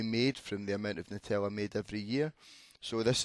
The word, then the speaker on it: Nutella: i'm not having this apparently it's nutella and 88 of us have been mispronouncing it saying nutella so what percentage of